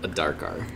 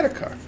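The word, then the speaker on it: Adarkar: I feel like that is the one painland that everybody has like says the name wrong. A Darkar. It's yeah. Adakar. I know. It's a Darkar, but like wow. It's everybody a dark car. Yeah. You just gotta remember a dark it's, car.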